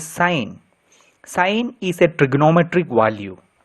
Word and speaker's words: sine: Please do not pronounce it as sin, it is sine.